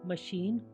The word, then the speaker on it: machine: अब CH के बाद I आ जाए तो वो श हो जाएगा। CHIFFON शिफॉन महीन कपड़ा। MACHINE मशीन यंत्र।